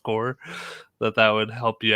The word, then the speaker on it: Corps: i said like marine corps like because i thought maybe you would know how that was spelled with the ps but it's pronounced core that that would help